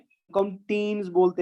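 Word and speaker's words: ctenes: और टेंटेकल के ऊपर जो आपके स्मॉल सीलिया लाइक स्ट्रक्चर्स दिखाई दे रहे हैं, इसको हम टीन्स बोलते हैं बेटा। सी साइलेंट रहेगा, इसको हम टीन बोलते हैं, ठीक है ना।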